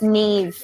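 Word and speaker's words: Niamh: sersa that's Sara does anyone know here to pronounce that in the audience T TIG TIG yeah KN what Neeve but it's Neeve maybe this is the best way to get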